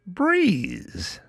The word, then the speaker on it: Brez: Meet Breeze, spelled B R E Z, pronounced Breeze.